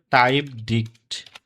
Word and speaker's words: TypedDict: এটাকে উচ্চারণ করা হয় টাইপ ডিক্ট। টাইপ ডিক্ট। এটাই উচ্চারণ করা হয় বা টাইপ ডিকশনারি কেউ বলে না।